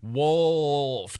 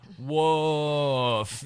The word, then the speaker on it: wolf: I said, no, it's wolf. To which for her it came out wolf. I don't understand how hard it is to pronounce that L.